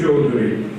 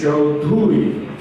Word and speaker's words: Chaudhuri: It's not Chaudhary, it's Chaudhuri.